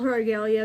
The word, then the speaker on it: Aglaia: again duco or well we'll call regalia because that's the name that was handed down through my family and how it's pronounced let's get into it